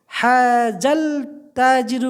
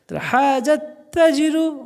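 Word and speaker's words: هذا التاجر: গোয়াল একজন উত্তম পুরুষ হাজাল তাজিরু পড়লে হবে না কারণ তা এমন একটা হরফ যার আগে আল থাকলে লামের উচ্চারণটা হয় না তার উপর তাসদিদ হয়ে যায় হাজাত তাজিরু গনিয়ুন এই ব্যবসায়ীটা হলো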